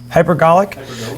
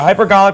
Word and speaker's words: hypergolic: how do you say that first word hypergolic hypergolic so hyper yeah hypergolic propellant that that's essentially a propellant where two